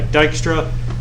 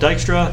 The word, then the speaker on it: Dijkstra: in the ba yep that's spelled dijkstra don't ask me why there's a j uh let's see all right